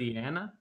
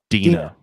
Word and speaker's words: Deana: Her name was spelled Deana. Deana? Yep. Deanna? That's what I said. And she goes, no, Dina.